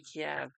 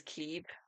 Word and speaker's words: Kiev: How do y'all say Kiev? Do you say Kiev or do you say Kiev? Do you say it like the place in um Ukraine or do you say it like how us English would say it ke?